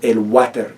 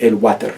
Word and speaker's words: water: El water. It's literally the word water, even spelled. The English word water, spelled the same, just pronounced with a Spanish accent. El water.